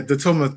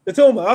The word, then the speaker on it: Datulma: Yeah, Datulma. Think of it like the tool man, but just ma at the end. Datulma. Yes. Datulma.